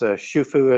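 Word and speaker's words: Xu Fu: And so it's pronounced Shufu, as if I've got that right.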